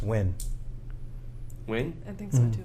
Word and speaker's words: Nguyen: And, I don't think you pronounce the N. It's just win.